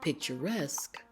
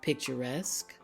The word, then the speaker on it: picturesque: at these two words they both end in SQ q u e notice how the Q sounds in these words we have picturesque an Arabesque you see it's slightly different than the other sounds let's say these words together picturesque Arabesque and that is because these words have been borrowed from the French language now